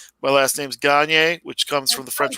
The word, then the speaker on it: Gaynier: I've always pronounced it Gagne. I'm trying to change it to Gagne because that's the version that sounds more like winning.